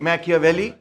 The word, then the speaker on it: Machiavelli: बहुत सारे लोग उसको कहते हैं निकोलो मैकियावेली, मगर वो उसका नाम गलत प्रोनाउंस कर रहे हैं. असल में उसका नाम होना चाहिए था निकोलो मैकियावेली, right?